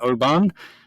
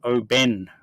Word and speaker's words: Oban: on the pronunciation of what we were calling Oban uh pronounced Oben we're both LED to